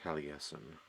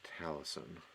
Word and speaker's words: Taliesin: Merlin, Arthur, and then Taliesin, which I always thought was pronounced Taliesin, which I think sounds cooler, but it's pronounced Taliesin.